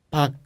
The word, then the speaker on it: 박: Pero con la k como 받침, la pronunciación es 박. No puedes pronunciar como 박. Hay que ser corto.